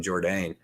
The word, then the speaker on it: Jourdain: I mean, the last name, if you pronounce it correctly, the last name is pronounced with a bit of a Jourdain. French, yeah, French accent.